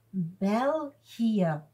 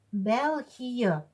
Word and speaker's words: België: En daarom zetten wij op de E twee puntjes omwille van de uitspraak. België. Om te weten dat we de twee letters apart moeten uitspreken. I, E. En de E wordt als E uitgesproken.